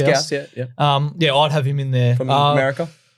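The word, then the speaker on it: Gous: of I'd have I don't even know how to pronounce Gauss. it. Is it Gauss? Gauss. Is it S silent? No, No, it's Gauss.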